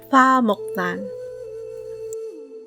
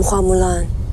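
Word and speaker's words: 花木蘭: character in other dialects, including Cantonese, but they pronounce the rest of her name a bit differently: "Fa Muhk-laahn." They do remedy this in the new live-action movie. "I'm Hua Mulan.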